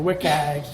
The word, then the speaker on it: WCAG: a bunch of different some people call it look AG wk or WIC eggs however you want to pronounce it it's fine by me but it's basically the